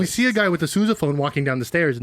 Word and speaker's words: sousaphone: syllables. That's yeah. completely What's fine. it? Wait, what's it actually called? A Sousaphone.